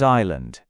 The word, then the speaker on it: island: Take the word island. It's spelled with an s in the middle, but we don't say the s.